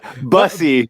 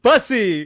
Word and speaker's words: Bussey: Bussey. Bussey. There you go. He said don't say it like Gary Busey.